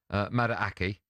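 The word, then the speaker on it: Madueke: I think it's pronounced I'm starting Miki. Madaki.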